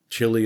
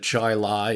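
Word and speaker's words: Chili: that you know a couple towns in New York state Chile instead of Chai Lai and definitely some British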